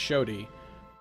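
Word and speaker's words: Xoti: It's pronounced Shodi, but I keep pronouncing it wrong.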